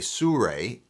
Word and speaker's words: Sirui: Now for a more landscape and travel friendly option, I use a Sure, it's pronounced Sure by the way, Traveler 7C, a great little tripod.